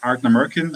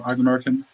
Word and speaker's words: Ardnamurchan: We got a question here from Expedition Whiskey, how to pronounce Ardnamurchan.